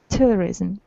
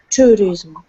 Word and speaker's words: tourism: own holiday yes but my under pronunciation tourism terrorism tourism yes okay thank you next